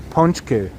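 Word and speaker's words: pączki: But usually when we're here with Delilah, we get some ponchki. Bakery Rzeszowska. I may mispronounce it, but I definitely know how to pronounce ponchki. Ponchki.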